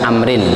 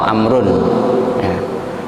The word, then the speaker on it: Amr: namanya HAM wes Muhammad Jadi kalau Amr tulisannya tulisan potnya Amerika main-main rowo bacanya Amrin atau amrun kalau sahabat Umar itu